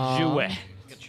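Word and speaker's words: Xue: That is quite the pronunciation. It's Jouet.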